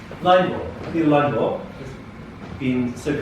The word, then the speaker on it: Linebaugh: Yeah, rhymes with awe, or Rush Limbaugh. No. But it's Linebaugh. Linebaugh.